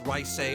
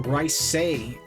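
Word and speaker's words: Reise: And that name, of course, was Dreikel's Rhysei Arnor. Oh, Rhysei.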